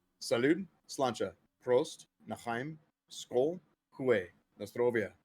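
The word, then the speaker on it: Sláinte: salud, Gaelic, slancha, cilantro, slancha. cilantro, There's not a syllable in between the S and the L.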